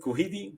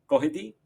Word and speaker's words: Cuddihy: I used to pronounce it Kuhidi, but of course it is Kohi.